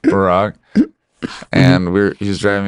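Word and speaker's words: Burak: driver's name was Barack, like B U R A K, but pronounced Barack.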